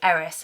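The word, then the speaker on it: Ares: Athena had a twin brother, Aries or Eerys as some people would uh pronounce it.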